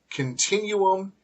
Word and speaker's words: continuum: vacuum Mumu and then with different pronunciations we have Continuum and residuum so sometimes the Double